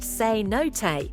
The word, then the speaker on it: cenote: all two cot Mexico a cot pronounced seot are water-filled sink holes